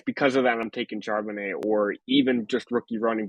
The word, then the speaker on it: Charbonnet: I am going with Zach Charbonnet. I think that's how it's pronounced. Um, It's I French. Seattle loves their running backs, and they also love to score with Geno Smith. So Charbonnet steps into a position where he could play.